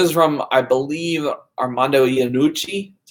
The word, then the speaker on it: Iannucci: This is from, I believe, Armando Iannucci. That's how you pronounce his name.